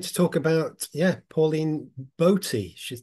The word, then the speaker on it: Boty: know I'm going to talk about yeah Pauline bti she's pronounced I always thought it was Pauline body because I like I like this the slightly